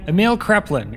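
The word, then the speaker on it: Emil Kraepelin: known as the father I should probably look up how his name is pronounced let me get that right Emil kin it's Emil Kin I'm sorry Emil kin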